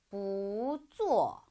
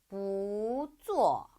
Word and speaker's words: 不做: 不看不看 마지막 단어 不做不做 그럼 요거는 여러분들 땡땡이 발음 아니에요. 성모 Z는 그냥 우 발음으로 읽기 때문에 做라고 읽어주시면 되겠습니다.